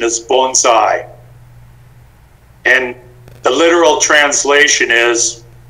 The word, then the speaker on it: bonsai: with a very simple thing it's the correct pronunciation is bonsai and the literal translation is a tree and